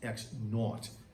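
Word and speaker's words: x₀: This is pronounced X naught.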